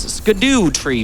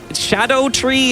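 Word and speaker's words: Scadutree: going to start collecting these upgrade materials, these skidoo tree fragments, or shadow tree is how it's like supposed to be pronounced, but it's spelled skidoo.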